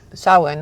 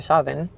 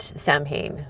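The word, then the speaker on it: Samhain: Um, so those who are witches in the no will say sawin or savin and not sam hayne is how you can tell the outsiders.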